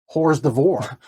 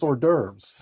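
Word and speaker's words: hors d'oeuvres: divore."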